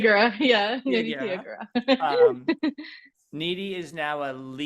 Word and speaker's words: Tiyyagura: Am I pronouncing that last name? Tiyyagura. Yeah, Nidhi Tiyyagura.